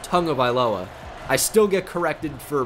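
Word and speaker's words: Tagovailoa: of aloa Tua tongue of ioa and not tag of ioa which is not his name by the way it's pronounced tongue of aloa I still get corrected for pronouncing it correctly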